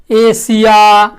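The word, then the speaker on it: Asia: आई ओ एन हो तो एस का उच्चारण प्रायः तालब सौ, तालब सौ समझ रहे हैं ना, तालब सौ होता है। जैसे जैसे एशिया, ए एस आई ए हम लोग बोलते हैं, एशिया।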